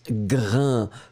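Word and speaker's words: grains: c'était le deuxième donc le s final n'est pas prononcé à irène ça vous donne le sont sains et donc on prononce grain que ce soit pluriel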